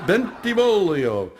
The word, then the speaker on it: Bentivolio: have an additional problem people have the toughest time pronouncing my name it's pronounced bentivolio again thank you for